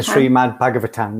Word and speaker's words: Srimad Bhagavatam: So book number 2, I'm not sure how to pronounce this. Srimad Bhagavatam. The Srimad Bhagavatam, yeah.